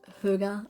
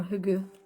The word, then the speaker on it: hygge: So it's pronounced H Y G E but it's pronounced Huga or Hugu.